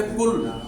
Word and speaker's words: pull: आप किसका उच्चारण है यू का उच्चारण है छोटे ऊ की ध्वनि में। जैसे पुल, पुल मीन्स क्या होता है खींचना।